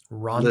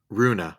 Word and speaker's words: Runa: a crush on okay Ronda listen Runa her name is Runa yeah Rhonda Roomba this